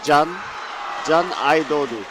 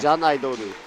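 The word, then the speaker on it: Can Aydoğdu: pronounced Can Aidodu, because the G, I was told yesterday, is silent. Oh, So you wow. say Can Aidodu.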